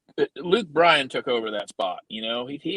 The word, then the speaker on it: Luke Bryan: why do you say Luke Bryan and not Luke Bryan? And I said, have you ever heard Luke Bryan say his name? It's hi, I'm Luke Bryan. There's no A in there.